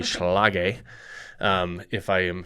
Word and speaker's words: Schlage: So we use the Schlage Encode, and I don't think I pronounced that right. I think it is actually Schlage.